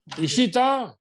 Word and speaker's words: Ishita: TA or THA? Sir, TA. वो तो spelling है, लेकिन बोलने में क्या बोलते हैं? ता या टा? Sir, Ta. ता.